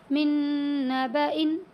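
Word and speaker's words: من نبإ: اس میں یہ والا لفظ استعمال ہوا ہے، من نبأ۔ ٹھیک ہے، اس طرح کریں گے اس کی ہجے: میم نون نون زیر من، نون زبانا،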